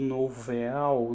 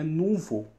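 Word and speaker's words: nouveau: é que está o todo mundo fala muito novel na verdade eu não sabia pronúncia disso foi pesquisar descobri que é uma palavra francesa e pronuncia-se né novo de novo mesmo nenê está sobre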